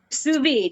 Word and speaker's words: sous vide: I believe, let me know if I pronounce this right. Sous Vide pork steaks. Sous vide, yes.